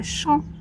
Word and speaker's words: champ: Vous voyez qu'on ne prononce pas le P. On dira pas champ, on dira champ de blé.